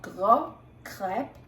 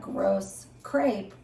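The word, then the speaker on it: gros crêpe: breakfast sule type dish in French it's called grp spelled g r oos c r e p e and in English you would pronounce that gross crepe which doesn't sound very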